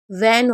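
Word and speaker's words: when: तो आप इसे हब नहीं पढ़ेंगे, इसे सिर्फ व पढ़ेंगे। जैसे वॉट हो गया या वॉट भी बोलते हैं, वैन हो गया, तो हम एच को साइलेंट रख रहे हैं क्योंकि डब्ल्यू एच के बाद ई है।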